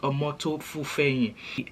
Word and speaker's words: Omoto Fufeyin: So in this video, I'm going to be talking about Very Dark Man, Solomon Buchi, Prophet Jeremiah Omoto Fufeyin. Yeah, that's how it's pronounced. Omoto Fufeyin.